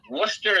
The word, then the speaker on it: Worcester: there spelled in a way that when you pronounce it doesn't come out right like Worster is w i was screaming about this last